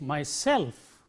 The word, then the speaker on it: myself: emancipate and so on in words ending in self the stress is on stress itself so if you have this the way it is pronounces myself you see myself it is not myself but it is myself yourself I blame myself